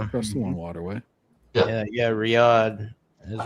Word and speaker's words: Riyadh: Oh yeah, like- it's Riyadh. It's usually Riyadh, Saudi Hmm. Arabia. Okay, I pronounced it wrong.